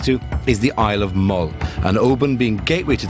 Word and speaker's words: Mull: Don't mispronounce Mull. Mull. How can you mispronounce Mull?